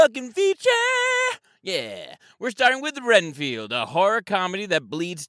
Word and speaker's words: Renfield: baby we're starting with I'm gonna say it wrong reinfeld was it renfeld I always say it wrong Renfield okay yeah Renfield well that's what we're starting